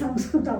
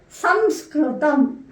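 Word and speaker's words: संस्कृतम्: that your colleges and not be pronounce as Sanskrit but this is correct pronunciation it should be kind of pronounced that some scrutam so when this word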